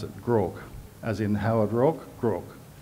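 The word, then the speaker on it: Groarke: David Chipperfield office he met Andy Grogg he pronounced it Grogg as in Howard Rock crook kaveri grok was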